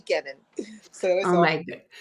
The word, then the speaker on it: Kenon: But people pronounce it canon and it really phonetically should be Kennon.